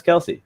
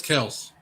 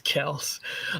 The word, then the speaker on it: Kelce: Why don't you just say his name right? How are you going to disrespect the man right here on our channel? Who? Fantasy shot caller? It's Travis Kelce.